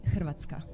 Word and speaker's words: Hrvatska: So we say Hrvatska.